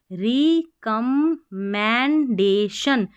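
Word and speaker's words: recommendation: रिकमंडेशन रिकमेंडेशन। अब यह जो आर ई है ना मैंने बोला री और रे दोनों तरीके से पढ़ते हैं। रिकमेंडेशन या रेकमेंडेशन दोनों तरीके से आप पढ़ सकते हैं।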